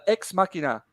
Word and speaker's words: Ex Machina: oh no no no it was from uh ex machina am i pronouncing that right yes where he talks about